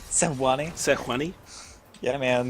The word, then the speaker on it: Sejuani: Sejuani? Sewani? Sejuani? Yeah, man. The J is silent. The J is Yeah. Sejuani.